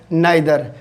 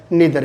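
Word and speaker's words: neither: अपने क्या बोलते हैं इसको, आइदर और नाइदर। जबकि इसका फोनेटिक अपने उच्चारण देखेंगे, फनिक देखेंगे तो क्या होगा, इधर और निधर भी।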